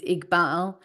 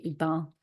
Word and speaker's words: Iqbal: It's Iqbal, and it's written ICK hyphen BALL, like a ball. Iqbal. And it should be Iqbal.